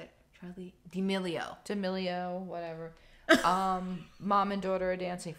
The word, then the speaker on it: D'Amelio: Charlie D'Amelio.